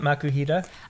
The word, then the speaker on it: Makuhita: Yep, makuhita.